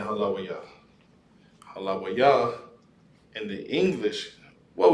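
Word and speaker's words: הללויה: Instead of saying Halawayah.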